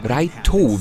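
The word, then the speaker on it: ライト: Raito, wie der Held des Manga im Japanischen ausgesprochen wird, kann nämlich nicht nur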